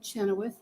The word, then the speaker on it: Chenoweth: good afternoon good afternoon my name is Chenoweth I'll spell it for you m-a-r-g-o last name is c